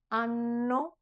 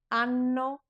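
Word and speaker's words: anno: Those are the words ano and two ends with both of them. Ano plural ani is year or years.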